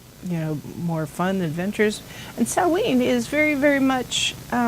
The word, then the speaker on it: Samhain: So Samhain, it looks like Samhain, but it's pronounced Samhain, and I'm going to